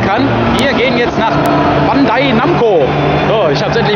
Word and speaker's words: Bandai Namco: Ich jetzt überhaupt verstehen kann, wir gehen jetzt nach Bandai Namco. So, ich habe es endlich mal richtig ausgesprochen.